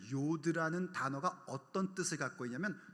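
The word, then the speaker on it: יוד: 찍어놓은 y로 표기된 거를 뭐라고 읽냐면 요오드 이렇게 읽어요 근데 그 요드라는 단어가 어떤 뜻을 갖고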